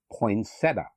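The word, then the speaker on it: poinsettia: mispronounced words in the English language the correct pronunciation is poinsetta another Botanical Christmas item is the pear tree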